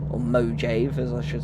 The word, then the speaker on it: Mojave: So, we're not going into Mave or Mojave as I should say as it's that's how it's spelled.